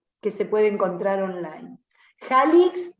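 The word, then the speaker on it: Jalics: Jalix se escribe como se pronuncia, así, con J, con C y con S, Jalix al final.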